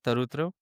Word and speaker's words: Tarutr: Uh I just want to correct uh like correct me if I pronounce your name wrong. It's Tarutra, right? Tarutra.